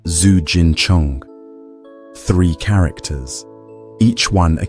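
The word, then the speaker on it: Zijin Cheng: In Chinese, the Forbidden City is called Zigun Cheng, pronounced Zu Jin Chong.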